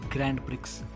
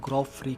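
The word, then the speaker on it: Grand Prix: ये शब्द देखने में लगता है कि इसका प्रोनाउंसिएशन होगी ग्रैंड प्रिक्स, लेकिन फ्रेंच शब्द है तो इसका ग्रॉ फ्री कहते हैं।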